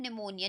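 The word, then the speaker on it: pneumonia: गई थी शी हैड निमोनिया निमोनिया की स्पेलिंग पी साइलेंट रहता है आपको पता ही होगा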